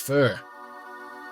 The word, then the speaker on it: pho: And in Hanoi, that means faux, pronounced fur.